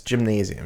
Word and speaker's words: gymnasium: It's gymnasium. You don't just like there's no pause in the word gymnasium. It's not like somebody's nasium. It's not like a guy named Jim who owns a nasium.